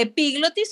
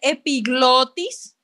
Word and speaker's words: epiglotis: la comida por ahí la glotis no es una palabra esdrújula vean que no tiene tilde por lo tanto no se dice epiglotis se dice epiglotis de acuerdo epiglotis la